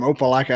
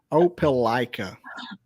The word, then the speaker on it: Opelika: means you're normal but they're from they're from Opa-locka Alabama where Auburn is Auburn University what did you say Opa-locka I'll pronounce it like I'll pronounce Opelika I almost did my balloomba sound on you